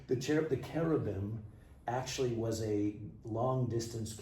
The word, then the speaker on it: cherubim: And the word carobim some in English sometimes pronounced cherubim.